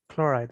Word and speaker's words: chloride: whatever right sodium hypochlorite chloride chloride chloride that's it's correct pronunciation chloride sodium hypochlorite and